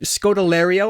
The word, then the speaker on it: Scodelario: So we pick up in the beginning in Scodelario, I believe is how you say her name.